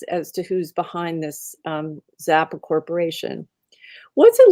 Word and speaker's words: XAPA: And then the last chunk of money is from a Delaware corporation called it's spelled XAPA. So I'm going to say Zappa, XAPA.